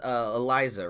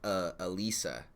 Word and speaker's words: Eliza: It's Eliza, right? It's the first one, Eliza. Not. I'm trying to get your pronunciation right. I know I talked to you all day, but it's not Elisa. It's Eliza, right?